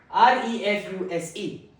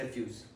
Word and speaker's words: refuse: एक हेट्रोनिम जो कि है रिफ्यूज या रिफ्यूज, REFUSE. The first pronunciation is refuse. Refuse. Okay. Waste material, rubbish. This is refuse.